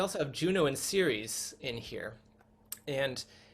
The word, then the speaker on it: Ceres: Because when you get down to here, Ceres is the soft C sound, following spring and scarcity and shun and shall, and all these S sounds down here go with the soft C of Ceres.